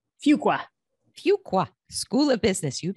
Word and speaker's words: Fuqua: professor at Duke University's, is it pronounced Fuqua? Fuqua.